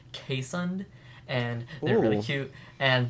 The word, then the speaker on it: Keeshond: e sh 0 ND which is sounds like keeshond but it's actually pronounced que son and they're really cute and they kind of